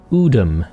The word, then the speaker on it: Udum: Udum, that's how you pronounce it.